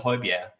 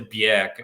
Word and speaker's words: Højbjerg: to the radio when they talk about Pierre-Emile Højbjerg, they always say, I mean, they get that pronunciation right. They don't say Bjerg or something like that.